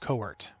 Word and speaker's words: Court: See, in my head, your name is pronounced Court, and I pronounce it that way so I can spell it properly. But Kurt is not it. So see, I can't do it. Court, like a basketball court.